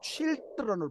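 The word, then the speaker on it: children: 아이 하나를 가릴 때 단수로 쓰일 때 차일드고요 아이들이라는 복수는 쉴드 라운입니다 발음도 쉴드론으로 바뀌어요 이건 복수입니다 아이들이죠 하나님의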